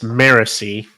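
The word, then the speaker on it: Marasi: I was bugging me it's maresi I'm that's how they say it okay okay Mery yeah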